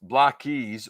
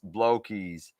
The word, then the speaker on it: Blokees: Um, hey Steve, why is block pronounced block keys when the spelling suggests blow keys?